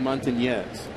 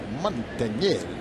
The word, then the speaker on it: Montañez: I'd like you to pronounce that little Enye. It's Willie Montañez. Montañez.